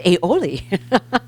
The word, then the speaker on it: aioli: had to have Google tell me how to pronounce that so it's aioli so she's going to make this beautiful dish